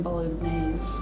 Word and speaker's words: bolognese: I used to pronounce the G in bolognese.